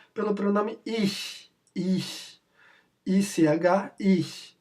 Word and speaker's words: ich: ICH, ich. Lembrando que não é ich, é ich.